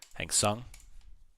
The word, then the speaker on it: Hang Seng: I monitor the German markets, the European markets, and the Hang Seng market. I think that's how you say it. Hang Seng.